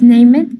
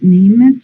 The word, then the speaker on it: named: The animal from the general by whom Ciudad Victoria is named is particularly famous in the north of Mexico. Particularly. And remember, you don't pronounce named, you pronounce named.